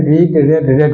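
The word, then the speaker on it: read: काथ क्या होता है स्पेलिंग सेम रहता है आर एडी ही रहता है तीनों में v12 v3 में लेकिन उसका प्रोनंसिएशन चेंज हो जाता है रीड रेड रेड हो जाता है इ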